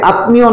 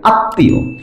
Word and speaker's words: আত্মীয়: ঠিক একইভাবে আত্মীয়, আত্মীয় যেটা আমরা বলি তয়ের নিচে ম আছে, এখানে আত্মীয় না হয়ে যাবে আত্মীয়, অর্থাৎ তয়ের যে ধ্বনিটা সেটা ডাবল উচ্চারণ হবে।